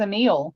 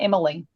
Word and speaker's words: Emil: I think it was Emil, not Emily.